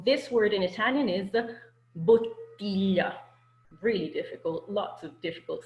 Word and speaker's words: bottiglia: So this word in Italian is bottiglia.